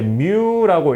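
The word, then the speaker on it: μ: 그래서요 앞에 붙어 있는 걸 저희가 이제 뮤라고 읽고 뮤라고 되어 있죠.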